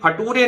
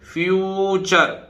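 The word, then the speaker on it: future: देखिए ये फटूरे नहीं है, ये फटूरे नहीं है, ये फ्यू TURE से चर, कैसे बोलेगा, फ्यूचर।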